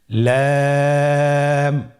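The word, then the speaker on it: لام: লাম হরফটি উচ্চারণের ক্ষেত্রে অবশ্যই বারিক হবে এবং তিন আলিফ টেনে পড়তে হবে। আপনারা আমার সাথে বলুন লাম।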